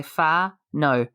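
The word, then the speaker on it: whānau: It's wanu, which can include not direct. Is that right? We'll give you a lesson to say just ignore how it's spelt and just say far no.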